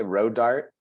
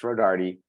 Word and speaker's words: Rodarte: they they just say Road Dart so so you kind of grow up because they don't pronounce the E because they think it's silent and so so all